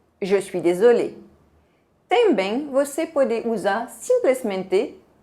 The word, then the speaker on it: désolé: Se você vê E acento agudo, se pronuncia E fechado em francês.